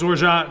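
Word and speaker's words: orgeat: know check it out it's orjah not organ not orgy it's and i'm gonna use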